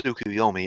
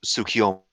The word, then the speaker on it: Tsukuyomi: You always mispronounce Tsukuyomi as Tsukiyomi.